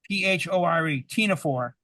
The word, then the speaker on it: ctenophore: It's called a ctenophore, CTEPHONE, CTENAPHORE, ctenophore. The C is silent, or a comb jelly, COMB jelly.